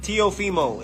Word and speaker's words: Teofimo: Tofimo. All right. Tofimo Lopez. Look, if y'all got a problem saying my name, I'm going to show you how to say it. All right, it's Teo Fimo.